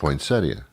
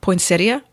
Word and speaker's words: poinsettia: poinsettia. Aha. Did everyone say it again? Poinsettia. Okay. There's two schools of thought on that. All right. Poinsettia or poinsettia.